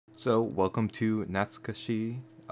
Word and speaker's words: Natsukashii: so welcome to gnats Kashi I butchered that pronunciation probably not sketchy done there yeah that's pretty correct and today we're gonna